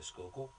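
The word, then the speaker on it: Schuylkill: we had 75 police officers are patrolling the skookul right I say it right yes SK skookul yes yes you must be from Philadelphia right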